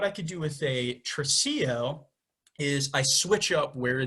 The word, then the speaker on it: tresillo: talk a little music theory, that's called the tresillo. It's spelled Tresillo.